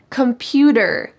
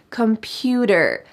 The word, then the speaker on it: computer: she was a student computer computer notice that the T changes to a D sound in American English computer computer I've been using